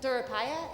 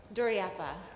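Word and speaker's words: Duraiappah: And Ananda Durapaya, did I just say it right? Oh, help me. Duryappa.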